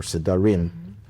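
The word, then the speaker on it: sedarim: holiday we also have two seders or sarim the correct Hebrew pronunciation of plural of seder in Israel they only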